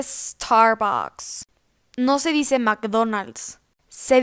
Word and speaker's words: Starbucks: pronuncian mal esta marca no se dice start books se dice starbucks no se dice mcdonald's